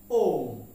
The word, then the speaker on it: womb: ওকে এখন আমরা আসি WOMB আমরা এটাকে ওম বলি কি বলি ওম না এর বি সাইলেন্ট তার মানে এর উচ্চারণ হচ্ছে ওম উচ্চারণ কি ওম এর উচ্চারণ কি ওম